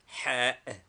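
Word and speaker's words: حاء: Name, Ha. Equivalent, H. Pronunciation, an aspirate strongly breathed out from the chest.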